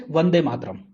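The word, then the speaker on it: वन्दे मातरम्: The string is Vande Mataram, pronounced as Vande Mataram.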